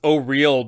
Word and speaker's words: Auril: Is it Auril or Auril, or how did you pronounce it? It's supposed to be pronounced Auril because it used to be pronounced Auril, Auril, okay. But that it doesn't sit well these days.